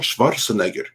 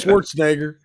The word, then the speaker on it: Schwarzenegger: Arnold Schwarzenegger. That's how the Austrians say it. And that's how I say it. Dolph Lundgren, Arnold Yeah. Schwarzenegger, and Yeah, early.